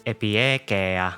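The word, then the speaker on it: Epieikeia: Her codename is pronounced as Epiekea, an ancient Greek word which means reasonableness or equity or fairness.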